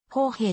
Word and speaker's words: 豊平: されたなお豊平の読み方は川の名前は豊平と読むが love の名前は砲兵と読む札幌市内を還流